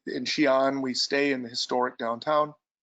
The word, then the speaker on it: Xi'an: So we start out our trip now in this very, very historically famous town that most people can't pronounce. It's called Xi'an.